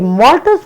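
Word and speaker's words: maltase: দ্বিতীয়ত এই মল্টোজ পরবর্তীতে ভেঙে মল্টেজ এনজাইমের সাহায্যে গ্লুকোজ। একটা কথা খেয়াল রাখতে হবে, খাবারের শেষে ওজ উচ্চারণ হয় আর এনজাইমের শেষে এজ। দেখো, খাবারের নাম মল্টোজ আর এনজাইমের নাম মল্টেজ, তো নাম শুনে আমাদের কিছুটা খেয়াল রাখতে হবে।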